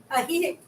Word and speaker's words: Ajijic: So the J's are pronounced as an H. So you go Ahihik.